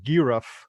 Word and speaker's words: Geoff: pronunciation guide and uh so jeff became uh giroff uh which was the the flan pronunciation for it that's a little crazy